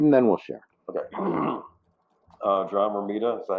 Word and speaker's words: John Romita: John Romita, is that how you pronounce his name?